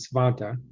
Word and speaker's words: Svante: It is a Swedish name, and I am in a Facebook group with a bunch of other people with the name Svante, or they pronounce it Svanta.